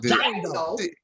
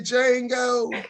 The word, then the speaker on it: Django: Because you had that house person, because I watched the Django, and the D is silent. Let me get that right. I watched Django. The Django.